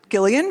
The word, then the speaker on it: Gillian: Yeah, is it really Gillian? It is. Yes, I know. Isn't that shocking? Wow. Did everybody know that? It's Gillian. You did? Like, girl, Me too. lead with that. It's a hard G.